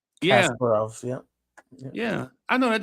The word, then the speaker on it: Kasparov: Wiz says it's pronounced Kasparov. Yeah. Kasparov, yeah.